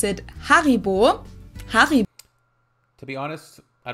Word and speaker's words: Haribo: everyone knew that Haribo is actually German we pronounce it Haribo har to be honest I don't know if